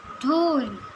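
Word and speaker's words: 둘: 2 is ढोल, ढोल. अगर हम इसे हिंदी में लिखें तो ये ध का साउंड आएगा, धूल.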